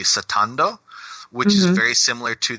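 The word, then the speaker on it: スタンド: It's more related to how it's pronounced in the original Japanese would be satando, which is very similar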